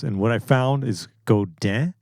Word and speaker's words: Godin: I actually kind of looked that up because my last video, I was like, how is that even pronounced? And what I found is Godin.